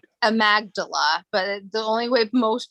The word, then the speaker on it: amygdala: dalla d-a-l-a inc it's amagdala but the only way most people remember is because her name is amy gabriela so people are like oh it's amygdala inc and it's no it's amagdala but okay but uh